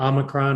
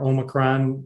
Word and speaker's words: Omicron: all the way to omicron or omicron webster says either pronunciation is okay and so